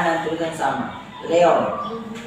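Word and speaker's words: Léon: Leon, bukan Leo.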